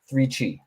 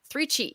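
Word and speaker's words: 3Chi: do you say it 3 CI three Chi three Chi like like chakras you know that yeah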